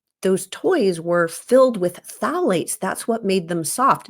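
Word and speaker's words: phthalates: Another important hormone disruptor in plastics is called phalates, which is spelled with a silent P, so don't ask me to spell it right now, but phalates.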